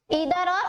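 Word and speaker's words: either: देखिए ईदर या आइदर हम दोनों बोल सकते हैं, वी can pronunciate this आइदर और ईदर, ठीक है, दोनों आपकी मर्जी है, आप इधर कहना चाहे इधर कह लीजिए, आइदर बोलना चाहे आइदर।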